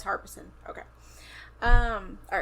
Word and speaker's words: Harbison: It's Harbison.